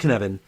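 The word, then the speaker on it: Cynefin: Cyn f n and it's a Welsh word that's why I I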